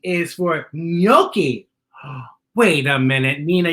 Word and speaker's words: gnocchi: G is for gnocchi. Wait a minute, Nina. You're saying that sounds like it starts with an N, but it starts with a G. Correct. It's gnocchi.